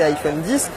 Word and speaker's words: iPhone X: Autre nouveauté de cet iPhone X, à prononcer iPhone 10, c'est ce double capteur photo.